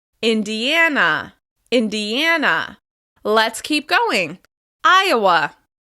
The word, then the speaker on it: Iowa: Iowa, Iowa. We stress Iowa on the first syllable. Iowa, Iowa, Iowa.